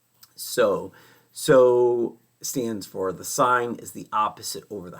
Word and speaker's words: sin: sign is just abbreviated s i n so we don't say that as Sin even though it looks like sin we still pronounce it as sign and Co we don't